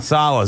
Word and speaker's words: Saleh: I always get your last name wrong. Saleh. Saleh. You know, I think of the New York Jets coach. He's got the same last name, so it's not totally off.